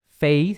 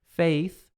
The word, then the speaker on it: faith: Faith é aquele A do inglês. Faith, feio TH.